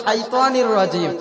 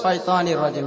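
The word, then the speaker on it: الشيطان الرجيم: তার কারণ সঠিক উচ্চারণ হলো শাইতানির রাজিম, আর উনি বলতেছে শয়তানির রাজিম।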